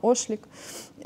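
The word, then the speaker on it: Ochlik: Фотограф Рémy, як правильно, Ошлік. Ну, він француз, тобто я так підозрюю, що читається правильно Ошлік.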